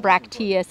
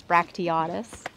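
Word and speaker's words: bracteatus: 24 inch petalanthus brachtiatus i've been saying it wrong all these all this time it's not bractius it's bractiatus oh my gosh then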